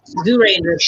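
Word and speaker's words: Zyuranger: So Mighty Morphin Power Rangers is actually all the fight sequences and little small snippets from Zoo Rangers from Kaiju Sentai Zoo Ranger. That's how you pronounce it.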